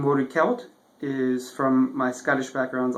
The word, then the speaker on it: Celt: you pronounce it like a selt that's French influence uh the French have soft Seas but in Gaelic it's hard SE so it's sound like a k sound so it's wed kelt and wed is basically